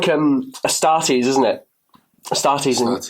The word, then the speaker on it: Astartes: Astartes, not Astartes. Yeah. I guess. Yeah. I'm going to have to change it. I'm going to have to say Astartes.